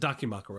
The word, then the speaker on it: Dakimakura: Dakimakura? Is that how you Yes, say a it? Dakimakura.